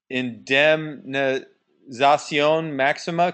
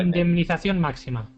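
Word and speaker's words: Indemnización Máxima: in in Indion Maxima. Can you pronounce your site? Go ahead and pronounce it. Yes. Indemnation Maxima. Very good. Much better than I did.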